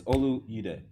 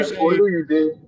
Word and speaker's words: Oluyide: Olu is Olu Yude. Or Olu Yude. Okay, thank you. Oluyide.